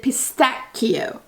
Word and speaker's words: pistacchio: The Italians pronounce it pistacchio, and in French it's pistache. It's a sh sound in French, and Italian it's cut sound, pistacchio, you know?